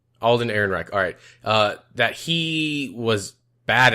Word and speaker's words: Alden Ehrenreich: the guy that's playing Han how do you pronounce his name Alden Ehrenreich Alden Ehrenreich alright that he was bad at hacked him